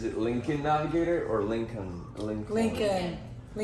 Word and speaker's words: Lincoln: Lincoln. How does that make sense, though? Nothing in America makes sense. No, so it's pronounced like Lincoln Park?